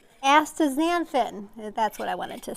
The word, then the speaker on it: astaxanthin: So you're getting some nice minerals there, selenium, omega-3 fatty acids, and the antioxidant extanthophth. I can never say it right. Astaxanthin, that's what I wanted to say.